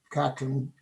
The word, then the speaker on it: Katyn: terms with this massacre, generally known as Katyn, that's the Slavic pronunciation, unless they came to terms with that, they would never more normalize relations with Eastern Europe.